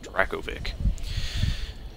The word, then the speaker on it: Dracovic: I don't know if I'm saying the second one right, but the first one's my character name, so that's how you say it, Dracovic.